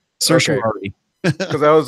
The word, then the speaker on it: certiorari: said that according to Adam kraut that it's pronounced certiorari and Zayn that's pretty much exactly what you